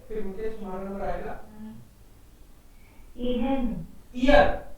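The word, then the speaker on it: Ihr: Year, H बीच में आता है तो साइलेंट रहता है, उसको पढ़ते नहीं, तो ईयर ही बोलेंगे इसको।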